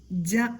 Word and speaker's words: ജ: ജ എന്നാണ് ഉച്ചാരണം.